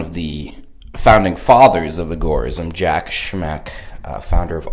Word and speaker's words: agorism: be discussing agorism what is agorism some people pronounce it agorism most people pronounce it agorism uh Sam conin pronounced it agorism who is Sam Conan well he he started